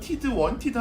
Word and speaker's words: wanted: 근데 자세히 보시면 중간에 있을 때 n하고 t 있을 때 t는 발음이 나지 않습니다. 그럼 t를 탈락시키면 발음이 어떻게 되겠습니까? wanted 하셔야 되죠. wanted. I wanted가 아니라 I wanted 이런 식으로 발음하셔야 되는 거죠.